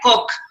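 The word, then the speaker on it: Koch: coca o de coche normalmente se pronuncia la coca pero se escribe así como está ahí en pantalla coche ok y es muy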